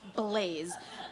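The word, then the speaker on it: Blase: No, it's pronounced Blaze. Just with an S where the Z would be.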